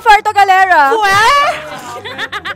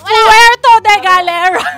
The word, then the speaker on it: Puerto Galera: niya sinabi no chances sabi ko Puerto Galera Puerto Galera ' ba she said she said she said hindi pronunciation sabi niya fuerto de galera bakit bakit taga bgc